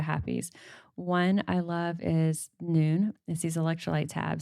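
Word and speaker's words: Nuun: One I love is Noon.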